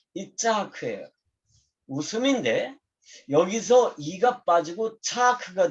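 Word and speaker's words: יצחק: 이삭의 원래 그 시브리어 발음이 뭐냐면 이 짜하크예요.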